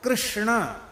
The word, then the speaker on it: कृष्ण: है क्यों कहेंगे क्यों अब देखो कृष्णा यह शुद्ध उच्चारण कृष्णा यह शुद्ध उच्चारण